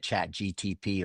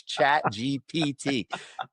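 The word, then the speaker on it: ChatGPT: The P before the T. Remember, physical therapy for your brain. It's chat GPT.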